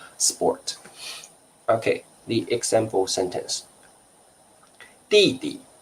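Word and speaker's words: 弟弟: younger brother 弟弟 remember the pronunciation should be first tone light tone 弟弟 first tone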